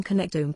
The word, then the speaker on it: connectome: There's an amazing project going on right now in the neuroscience world called the Human Connectome Project, pronounced connectome, in which scientists are trying to create a complete detailed map of the entire human brain.